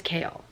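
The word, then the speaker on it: Chaol: to say his name kale ch ch maybe I should look that up I'm really scared I'm going to get spoilers though how to pronounce his name is kale okay I was kind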